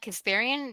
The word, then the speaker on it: Kasparian: It reminds me of Anna Kasparian.